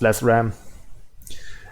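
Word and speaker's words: Lecram: referring to himself as lakram Marcel backwards pronounced pronounced less Ram and he attacks the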